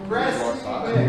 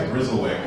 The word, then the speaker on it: Gressiwick: Did I pronounce it right? No. Gressiwick. Gressiwick. I've been calling it the Grizzlewick.